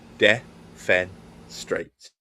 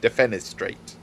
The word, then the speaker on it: defenestrate: Defenestrate. Yeah. Fen is straight. Defenestrate. Defenestrate. There you go.